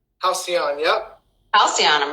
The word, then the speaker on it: Halcyon: Halcyon, yep. Halcyon, I'm mispronouncing it.